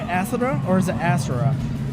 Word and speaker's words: Asura: Asura or is it Asura?